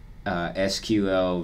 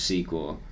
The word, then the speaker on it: SQL: still a fan of the ever looming war of SQL vs sequel I prefer sequel when it comes to that unless or why I prefer sequel but I usually do say sequel but I hear SQL a lot yeah I don't know